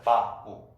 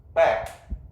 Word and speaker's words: back: 그 다음에 이거를 받침 발음을 못하는 일본 사람들이 말할 때 자 따라해볼까요? 빠꾸 이렇게 한다. 빠꾸 백 빠꾸. 빠꾸는 일본 말이다 이게 아니라 영어를 일본식으로 잘못 읽은 표현인데 그게 우리나라에 들어와서 지금까지 남아있다라는 거죠. 빠꾸 들어두세요. 일본말 아닙니다. 빠꾸는.